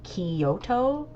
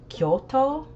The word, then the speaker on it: Kyoto: uh travel content, but so many people pronounce it Kyoto the the city, but it's Kyoto. Like they bro they break it up in like a funny way.